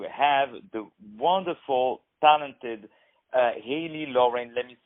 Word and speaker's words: Loren: I had the pleasure to have the wonderful, talented HALIE LOREN. Let me spell it out for you. It's H-A-L-I-E, Loren, like Sophia Loren, L-O-R-E-N.